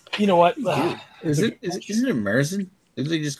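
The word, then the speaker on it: Märzen: The technical pronunciation for Marzen is actually Marzen. It's because it's named after the month of March.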